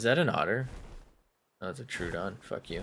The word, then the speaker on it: Troodon: an otter that's a true dawn you I still am baffled by I think someone who came to my chat and said it's pronounced Troodon there's no [ __